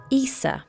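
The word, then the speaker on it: Isa: that day I pulled the I Rune pronounced EA meaning ice which I thought was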